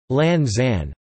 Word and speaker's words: Launceston: Launceston is still pronounced Lanzan, from Cornish Lanstefan, with emphasis on the first element.